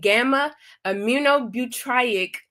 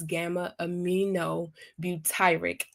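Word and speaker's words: gamma-aminobutyric acid: like serotonin, serotonin and gamma amunobutriic acid which plays a crucial role in regulating your mood and emotions. Sorry I pronounced that incorrectly is gamma aminobutyric acidic.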